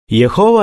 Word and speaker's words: യഹോവ: മലയാളത്തിൽ യഹോവ എന്നാണ് സാധാരണ പറയുന്നത്. പക്ഷേ യാഹ്വേ എന്ന ഉച്ചാരണവും നിലവിലുണ്ട്. സങ്കീർത്തനം 83:18 ഇങ്ങനെ വായിക്കുന്നു: യഹോവ എന്നു പേരുള്ള അങ്ങ് മാത്രം മുഴുഭൂമിക്കും മീതെ അത്യുന്നതൻ എന്നാളുകൾ അറിയട്ടെ.